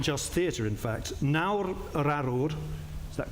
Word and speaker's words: Nawr Yr Arwr: Nawr Arwr, is that correct pronunciation?